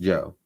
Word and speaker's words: Joie: Joe, spelled Joie, but pronounced Joe.